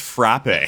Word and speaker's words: frappe: We we we couldn't call it a frape anymore.